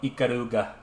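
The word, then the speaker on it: Ikaruga: 200 hours is a lot of hours for Iaruga or Iaruga.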